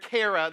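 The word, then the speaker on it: char: them is actually car c h a r car is how you pronounce it at least and it means to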